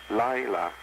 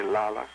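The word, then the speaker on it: לילה: flesh represents Passat night comes from the Hebrew word Lila some say lala it is spelled lament hey Lila and means adversity this means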